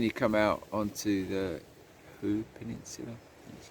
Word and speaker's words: Hoo Peninsula: And then you come out onto the Hoo Peninsula, that's how you say it.